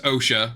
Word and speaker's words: Osha: um with May versus OSHA which I love that she's name I know it's Asha but her name is spelled OSHA that's all I think